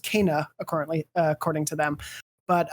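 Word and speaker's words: Kena: was a game informer cover story for uh kenna which actually is pronounced kana accordingly according to them but uh they were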